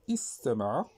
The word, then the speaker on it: استمع: استمع اذا تنقول استمع اذا هنا تنطقوا بالهمزه تنقول استمع استمع استمع لكن لو وظفنا الوصل الواو اولا الفاء قلنا و استمع واستمع ما قلناش واستمع اولا استمع واستمع اذا واستمع هنا ما نطقنا بالهمزه وهذ تسموه همزه الوصل